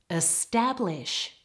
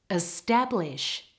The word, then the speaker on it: establish: establish specific and stable in the first word the stress is all on the second part have a listen establish establish in the word specific